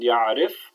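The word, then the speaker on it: يعرف: So we say yashrab with a fatha, yadrus with a dhamma, and ya'arif with a kasra.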